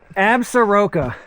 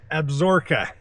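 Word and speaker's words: Absaroka: Uh, Absuroka.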